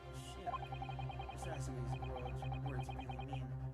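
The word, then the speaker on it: 頭: It's written as head in Japanese, and it's pronounced as Kishira, I believe. Kishira.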